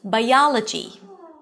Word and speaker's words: biology: Let's take the suffix -djee. -djee, as in biology. Bai-aa, primary stress, open as in father, and then -djee.